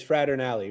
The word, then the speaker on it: Fraternale: Ben I think I have it right it's frater alley right yes very good perfect I've heard people